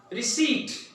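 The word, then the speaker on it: receipt: तो यहां पे साइलेंट क्या होगा? जी हाँ, letter P is silent here.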